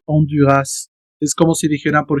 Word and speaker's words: Honduras: Porque es una adaptación del español, por eso es que lo pronuncian onduras. Es como si dijeran, por ejemplo, tortillas, ¿no? Plural. La s funciona porque no es francés, es el español.